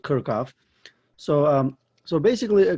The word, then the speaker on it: Kirchhoff: need to use the kirov rules or kirov or kirov everybody has like a you know different way of pronouncing uh this name so I I go with kirkov so um so basically